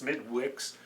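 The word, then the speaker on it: Smithwick's: It's actually pronounced Smidwix, but my understanding is pronounced Smittix.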